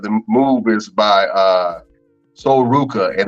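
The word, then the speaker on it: Sol Ruca: the way of a wrestler her name is soul Rica a soul Ruka as they pronounce it um she's a wrestler on the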